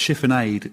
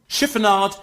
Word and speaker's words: chiffonade: is chiffonade chiffonade uh ainsley ames is pronouncing that wrong it's chiffonade it's just fizzy chiffon it's just like fizzy fabric that's all that is